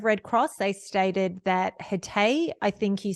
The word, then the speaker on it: Hatay: They stated that Hatay, I think you said is how it's pronounced, province was the first affected area.